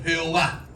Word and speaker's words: Jehová: Cuando llegan al nombre de Dios, ven que estaba escrito YHWH y no sabían cómo se pronunciaba este nombre, porque la pronunciación era Adonai, el Señor. ¿Y qué hicieron? Le pusieron las vocales de Adonai a YHWH y nació el nombre Jehová o Jehová.